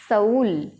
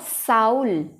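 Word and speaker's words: soul: जैसे इसको हम बोलेंगे फाउल और इसको हम बोलेंगे सऊल, नॉट साउल।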